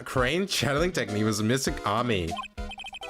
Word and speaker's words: Ami: Everyone knows that the lady that founded the crane channeling technique was Mystic Ami. Also, it's not pronounced Amy, shut up.